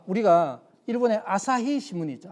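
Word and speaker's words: 朝日: 아침을 아사 이래 보고 해를 히 이래 부르는 거죠.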